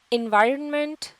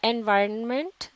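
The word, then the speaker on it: environment: हमराज है तब्दील करना और एनवायरनमेंट या एनवायरनमेंट दोनों ही तरह से सुपर डांस किया जाता है इसमें यह रिलेटेड एंड है यह साइलेंट नहीं होता आ है और इसे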